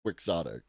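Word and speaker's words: quixotic: It's pronounced quicksotic.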